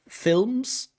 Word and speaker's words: films: Sorry, dark L's and light L's in English. Films.